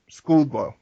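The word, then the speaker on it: Szczudlo: So that comes down to either William O'Connell, Arnie Sweekle, or Andrew Goldhawk, or Tony, oh God, I can't even pronounce his name. Skudlow.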